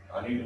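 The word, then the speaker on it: allied: तो अलीड angle, अलीड बोलते कोई अलाइड बोलता, प्रोनाउंसिएशन में थोड़ा अलग अलग रहता है।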